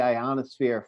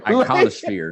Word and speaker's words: ionosphere: So the signal could have been bouncing around the ionosphere for hours, days, weeks, months. But he absolutely mispronounces ionosphere. Yeah, ionosphere. How do you mispronounce ionosphere? Iconosphere. Ionosphere.